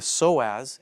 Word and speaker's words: psoas: okay next one is called the psoas spelled with a PS Oh a s okay the so as is more commonly known